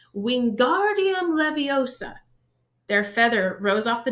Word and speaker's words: Wingardium Leviosa: having much more luck Wingardium Leviosa he shouted waving his long arms like a windmill you're saying it wrong Harry hurt Hermione snap its Wingardium Leviosa make the GAR nice and long you do it then